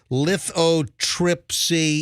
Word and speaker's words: lithotripsy: right hand hey let me make sure I'm pronouncing the damn procedure right lithotripsy yeah lithotripsy l-i-t-h-o-t-r-i-p-s-y so uh apparently it's like